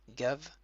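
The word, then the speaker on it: גב: Un vet, donc il n'y a pas de point à l'intérieur, ça se prononce comme un V. V, absolument aucune ponctuation, donc ça se lit gav.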